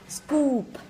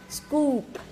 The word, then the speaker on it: scoop: Scoop. Scoop.